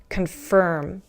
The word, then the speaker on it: confirm: Oh, pronunciation wise, listen. Conform, confirm. Do you hear the difference? Conform with an O, conform, confirm with an I.